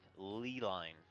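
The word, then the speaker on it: ley line: This, for future reference, is pronounced Lee line.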